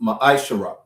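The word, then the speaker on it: מעשר: tithe which is a commandment numbers 18 21 and Malachi 3:8-10 means tent in the Hebrew pronounced maishara 10% of every penny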